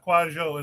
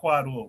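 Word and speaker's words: Kwadwo: Kwajo is the pronunciation, not Quadwo.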